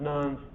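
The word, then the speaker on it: Nantes: an edict called the edict of non-nons it's pronounced nones in 1598 telling the people stop running around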